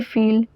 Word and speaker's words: fils: The plural has an s at the end, but it is silent. Des fils.